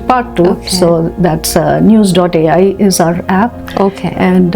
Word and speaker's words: Neus: So basically, is it like a news? Is it like app-based platform? Yes, it is. It's an app. It's called news.ai. Again, a slight twist to news. The news is spelled as NEUS. News.